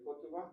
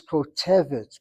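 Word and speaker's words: כותבת: Is it kotuva? No. Think of the word kotev, then the feminine is kotevet.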